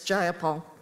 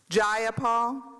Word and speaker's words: Jayapal: you agree with miss jayapal that there was no takeover it was just jayapal if you're going to say my name please say it right it's jayapal jayapal do you would you agree